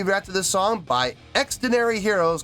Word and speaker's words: Xdinary Heroes: labels in South Korea their name extenary Heroes is a shortened form of extraordinary Heroes okay so I have